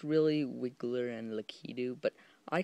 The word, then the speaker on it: Wiggler: of Winger and Hau likeu that's how I pronounce I know it's really wiggler and Leu but I call them Winger and lau why because I call them that and it